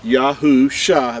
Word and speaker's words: Yahusha: see this this is the letters Yahoo Shah that's how you pronounce these letters right here that are in